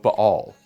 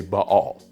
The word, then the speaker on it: Ba'al: name of this god you may usually hear it pronounce baal or ball but here beneath the bible we usually say ba'all now this is the best representation of the way the word is written in hebrew and we're just trying